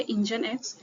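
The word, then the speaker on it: Nginx: Second है इंजन इसका pronunciation ई होता है इंजन।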